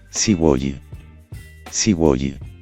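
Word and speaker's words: すごい: y dijo tímidamente sí sigi sigi es la pronunciación de sugo en japonés que probablemente significa Wow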